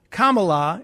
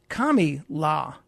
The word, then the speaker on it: Kamala: Jim in Naperville, Illinois, listening, no doubt, on the great WLS, writes, you got to pronounce Harris's name correctly. It's not Kamala, it's Kamala.